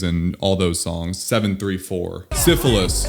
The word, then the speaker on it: Syphilis: Syphilis. I butchered the song's name. I called it Syphils.